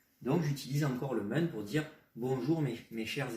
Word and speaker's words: 们: Ensuite, la prononciation est assez simple. C'est men comme men en anglais qui veut dire les hommes. Aucun ton chinois, aucun accent.